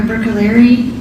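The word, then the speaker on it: Bruccoleri: Can you please state your name and spell it for the record? Sure. It's Dr. Brookaleri.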